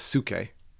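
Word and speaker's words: ψυχή: The other word we talk about is suke. Okay. Which, mind or soul. Mm-hmm. And that's kind of interesting. So spell that, because the reader might not know how you're spelling that.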